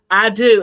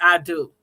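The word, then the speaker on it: Adú: spelled a d u i do and it's called i do because the little african boy's name is i do i'm gonna watch that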